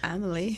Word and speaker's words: Emily: They, you know, Turks Islanders, they don't say Sweet Emily, it's Sweet Amelie. Oh, Amelie. They spell my name with an A. And they pronounce it differently.